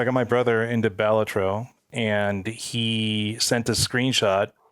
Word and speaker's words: Balatro: on the interview was how do you actually pronounce it and he said batro Anonymous developer who has decided to M stay